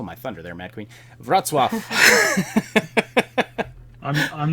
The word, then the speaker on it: Wrocław: Wrocław. You stole my thunder there, Mad Queen. Wrocław.